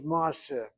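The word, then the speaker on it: מעשה: Not really, because originally it was ma'aseh. We don't say ma'aseh, we say ma'aseh. Ma'aseh. So you hit the last syllable, but that patach is open because of secondary opening.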